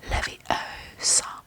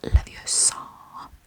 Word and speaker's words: Leviosa: You're all saying it wrong. It's LeviOsa, not LeviOsa.